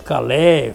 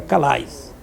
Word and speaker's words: Calais: Talvez a pronúncia fosse Calais, francês, mas no cangaço era Calais.